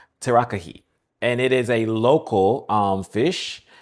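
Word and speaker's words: tarakihi: Now this fish, and I apologize for the pronunciation already, it is in the description, but it's Terakihi. Terakihi.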